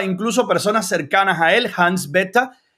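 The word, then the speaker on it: Hans Bethe: que el nombre del científico alemán era la pronunciación era Hans blix está confundido fíjese que me quedé con eso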